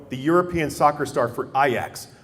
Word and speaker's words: Ajax: European soccer star for IX or pronounced as some people who aren't soccer enthusiasts Ajax he was a huge